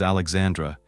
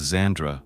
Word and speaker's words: Xandra: You can say it the way I just did, or as Alexandra, but I listened to the way that Alexandra herself preferred it to be pronounced.